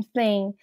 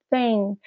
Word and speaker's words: thing: O G não é mudo em thing. Mas muita gente pronuncia suavemente. O foco não é no G. Exatamente. Thing. Tem um Gzinho no fundo, mas você não foca demais.